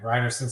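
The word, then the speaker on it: Rynearson: I pronouncing that correctly you are pronouncing it correctly reinerson Stadium yes matching these are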